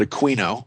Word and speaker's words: Aquino: but he is Dr Colonel Michael Lino not a keino but a quino that's how you properly pronounce his name and uh he is a